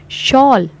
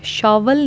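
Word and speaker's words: shawl: शॉल one syllable है, शॉल simply बोला गया, शॉवल नहीं है, शॉल सिंपल वन सिलेबल।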